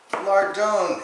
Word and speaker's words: lardons: inch slices that's what lard dome is or are it's plural you just don't pronounce the S at the end it is finely sliced